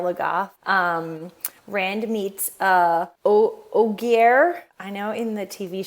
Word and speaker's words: Ogier: so yeah oh oh it's it's very close to ogre right like oh and that's